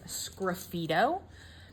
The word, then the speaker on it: sgraffito: The next two techniques are known as sgraffito, and that's spelled S-G-R-A-F-F-I-T-O.